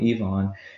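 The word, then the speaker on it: iwan: but this is uh the iguana or pronounced evon it's a rectangular hall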